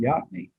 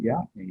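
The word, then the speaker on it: Yocona: what they heard and they pronounced it the way they heard it yakni they didn't get to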